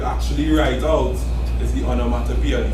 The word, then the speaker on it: onomatopoeia: Pronounce One. Automatopoeia. One, that's all. Let me hear it again. Automatopoeia. That's all. Let's slow down. Onomatopoeia. Onomatopoeia.